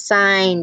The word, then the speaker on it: sign: And how about silent G? There's sign, design, align. That G is doing nothing at all.